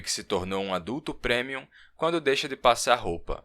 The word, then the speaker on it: premium: E você percebe que se tornou um adulto premium quando deixa de passar roupa, mas ainda assim continua impecável. É, eu pronunciei premium mesmo, não premium, como algumas pessoas fazem. É uma palavra em latim.